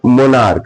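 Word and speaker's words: monarch: मोनार्क। क्या पढ़ना है? मोनार्क। तो यहां सी एच का उच्चारण क्या हो रहा है?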